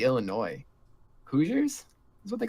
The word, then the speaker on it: Illinois: It's Illinois. Yeah. Is not Illinois.